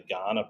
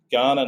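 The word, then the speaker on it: Kaurna: And that's the land of the Ghana people. It's it's written with a K. It's K A R N A. It's pronounced Ghana like the country in Africa. And Ghana nation has been uh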